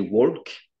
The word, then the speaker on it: walk: Tu m'as dit walk. Tu m'as mis le L alors que le L ne se Ouais.